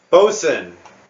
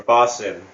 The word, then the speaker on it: boatswain: It's Bosun or Bosson, however you're supposed to say it. Boatswain? It's spelt boatswain, but Yeah.